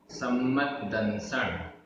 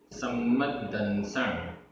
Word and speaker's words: सम्मदंसण: सम्मदंसण, सम्मदंसण, आधा मा पूरा मा, आधा द पूरा द, सम्मदंसण।